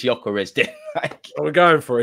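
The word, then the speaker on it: Gyökeres: pronunciations this week um I'm landing on joarez apparently the G is is more silent but I don't know if that's you know I'm going to take your lead man it's joarez we're going for it's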